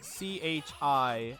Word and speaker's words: Soichi Terada: Soichi Terada. Oh no! That is Soichi, and then Terada is spelled as it sounds.